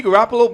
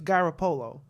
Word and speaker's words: Garoppolo: I don't know where they get this Garoppolo from, but anybody from Brooklyn knows that if you have an Italian last name like that, it's Garoppolo, not Garoppolo. So Well, that's the way they pronounce it.